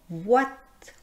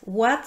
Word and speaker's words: ouate: Vous voyez dans le mot oui en fait ça s'écrit o u i et pourtant on prononce le son [w] Egalement dans OUATE. OUATE c'est un nom qui